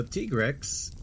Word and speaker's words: Tigrex: All right, so Tigrex is how it's pronounced.